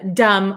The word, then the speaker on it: dumb: as you can see there's a b at the end here dum dum um so we don't pronounce the b okay so it sounds just like d m dum dum and if you uh